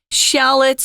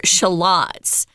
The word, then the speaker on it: shallot: turkey with something called crispy fried shallots or shalots uh it's pronounced both ways depending on where you are and if you listen